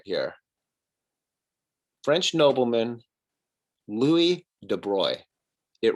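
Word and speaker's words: Louis de Broglie: next test i would it's pronounced louis de bruy so what i want you to do is if someone mispronounces it i want you to raise your hand you'll probably be in an in-person class at that time say oh contraire louis de bruy is the correct way to pronounce it okay feel empowered with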